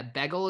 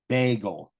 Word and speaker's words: bagel: I sayel Bagel yeah begel is what you said I think you pronounced it like keegels yeah how should I bagel bagel like a long a bagel yeah like a